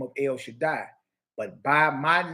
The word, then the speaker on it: El Shaddai: of God Almighty, or El Shaddai. That's how you say it. El Shaddai is the way you say God Almighty in English. El Shaddai is Hebrew.